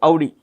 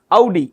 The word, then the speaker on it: Audi: I am not really concerned about these guys, but Audi. Audi, that's how you pronounce it.